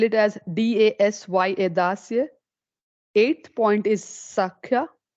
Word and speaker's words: Dasya: 7th point is Das, or you can spell it as D-A-S-Y-A, Dasya.